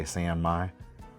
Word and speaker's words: San Mai: I think Sanmei is mostly correct Japanese pronunciation, but we Americans say Sanmai.